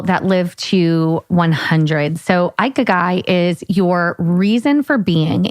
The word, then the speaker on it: Ikigai: So listen, the first thing we're going to talk about, not your balls, is going to be this Japanese philosophy called Ikigai. Ikigai.